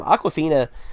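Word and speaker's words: Awkwafina: spelled very fun - it's not like the water it's like aqua like awkward FINA so it's a wk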